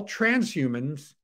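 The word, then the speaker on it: transhumance: a n c e trans humans it rhymes with trans romance so you know that's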